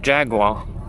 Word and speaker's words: Jaguar: Jaguar.